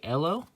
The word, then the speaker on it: Ehlo: Webb Gerald patio Craig Oh Craig Ehlo is how you say it Kenny garrison herb Williams